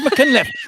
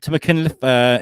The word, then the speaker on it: Machynlleth: I said Machynlleth. That's what they say. This is the problem with Welsh people, right? You pronounce.